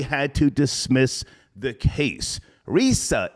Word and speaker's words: Rizza: to dismiss the case Risa Islam that's how you say his name Risa okay has uh he's